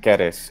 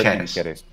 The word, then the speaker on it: Ceres: And Keres, of course, for the classical Latin pronunciation. Classical Latin, because you have a K, and is the A long or just all short? Just all short. Keres.